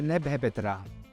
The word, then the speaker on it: Nebhepetra: Si legge Neb-Hepet-Ra, che è il nome di incoronazione di Mentuhotep II, primo faraone del Medio Regno, che regnò per una 50ina d'anni.